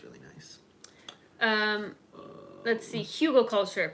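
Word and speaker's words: Hugelkultur: ground it is really nice um let's see Hugo culture pronounced Hugo yeah we talked about that before here we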